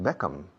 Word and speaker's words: Beckham: Claro, decía Beckham, David Beckham, cuando es Beckham. Hay que cerrar la boca, es Beckham. No es Beckham.